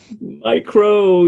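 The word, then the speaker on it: μ: How do we pronounce the U? Micro. Micro, yes, okay.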